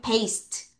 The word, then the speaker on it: paste: 그리고 또 뭐가 있냐면 paste 발음하면 paste. 다시 paste. 여기에 이가 매직이라서 소리가 안 나고요. 이 이가 여기는 A한테 영향을 줘서 A가 A 소리가 나는 거예요. 다시 따라하세요.